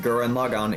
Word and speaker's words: Gurren Lagann: Yeah, they pronounce it Gurren Lagann in the show.